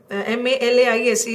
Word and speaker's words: malaise: This is the pronunciation of M-A-L-A-I-S-E is malaise, and this is malice.